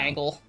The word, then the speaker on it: Angle: I realize I've been saying your name wrong for a long time. I've been reading this Angel. Sugar the Angle clearly Clown. Angle.